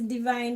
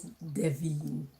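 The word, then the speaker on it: Devien: Do you know my middle name is divine but it's spelled d e v i e n. They say it's deine but it's actually divine. You say it just like how it is spelled.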